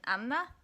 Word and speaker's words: Anna: Oh no, it's not weird for me to pronounce both of the N's in Anna, because that's what we say in Slovakia, but there's also a